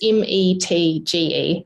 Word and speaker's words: Metge: And people, if they're looking for your name in the credits, it's not spelt the way you'd think it's spelt from the way we said it. No, it's Metge, so it's Metge, which is my husband's fault.